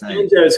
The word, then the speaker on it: Tanjo: So Tanjo, banjo rhymes with banjo.